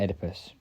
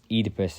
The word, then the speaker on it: Oedipus: While there are many Theban kings, I think it's pretty clear he's talking about Oedipus, or Oedipus is I think the actual pronunciation.